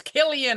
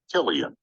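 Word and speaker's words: Cillian: Murphy I think we all know how to pronounce Murphy it's kill ion that everybody's telling me about let's see I'm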